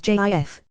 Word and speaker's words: GIF: possible legit pronunciations and since the creator said it is pronounced as jif i choose to say